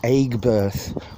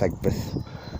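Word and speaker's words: Aigburth: But Egbert looks like you pronounce it Aigbirth, but you don't, it's Egbert.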